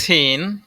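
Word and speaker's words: سين: সিনের আবার উচ্চারণ আছে সিন উচ্চারণ কেমন হবে সিন সামনের নিচের দাঁতের আগা হতে শীষহ পাতলাভাবে আদায় হবে এগুলো শুরু দিয়ে সুর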